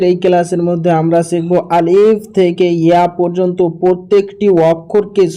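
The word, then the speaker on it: ا: এটা হচ্ছে আলিফ। আলিফটিকে আমাদেরকে তাড়াতাড়ি পড়তে হবে। কিভাবে? আলিফ। আলিফ।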